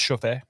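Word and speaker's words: Chouffe: How do you pronounce this? it's Chauffé.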